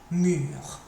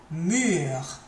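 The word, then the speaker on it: mûres: Les plus mûrs. The most ripe. Plural they. And, plural the. And then an E and an S because bananas are feminine and plural. But doesn't change the pronunciation here.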